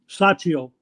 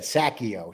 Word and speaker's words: Trucchio: Michael, how do you say that last name? Chuccio. Michael Chuccio. I would have said Sacchio.